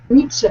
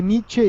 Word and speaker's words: Nietzsche: Pero lo que pasa es que la otra vez yo dije Nietzsche y tú me corregiste porque la pronunciación alemana es diferente, o no es lo mismo.